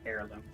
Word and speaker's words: heirloom: It is pronounced heirloom, but it is spelt with an H.